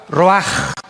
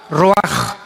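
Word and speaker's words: רוח: Se pronuncia la ch en hebreo como J. Roaj. Como J. Roaj.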